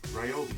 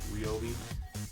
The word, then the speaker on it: Ryobi: So, this thing was part of Ryobi days this year, and even though I catch myself saying Ryobi sometimes, apparently it's pronounced Ryobi.